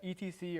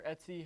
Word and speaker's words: etc: we can see we've got etc or etsy however you want to pronounce it really really depends on you we can go to